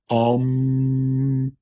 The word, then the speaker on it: Aum: M fora the Destroyer a m it is and effable not because it cannot be pronounced but because it is pronounced um all these things